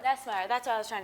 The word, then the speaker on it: Nussmeier: Garrett Nussmeier. Nussmeier, that's what I was trying to say. I can't pronounce anything, so.